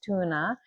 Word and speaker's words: Tone: Her name looks like Tone, and it's not. So she's Norwegian, and the way that her husband pronounces her name is Tuna.